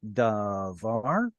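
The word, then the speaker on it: דָּבָר: Why did the vowels reduce? Because it's got the stress gone to the far end.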